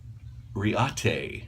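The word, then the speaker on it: Reate: the day my everyday carry today is by Reata that's how you pronounce that Rea te REO REO ta ya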